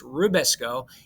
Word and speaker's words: RuBisCO: not end in ase rabisco sounds like nabisco that makes cookies okay it's rubisco it is probably probably